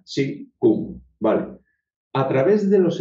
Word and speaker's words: Qigong: Se escribe así y se pronuncia Qigong.